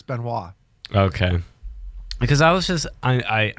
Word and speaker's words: Benoit: Benna that's his name Chris binoy yeah that's what that's how it's spelt but it's Chris Benoit okay because I was